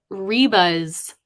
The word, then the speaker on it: Ryba: That, for anybody curious, that's Reba's chocolate shop, but not Reba like a single mom who works too hard. It's spelled Ryba, Reba's chocolate.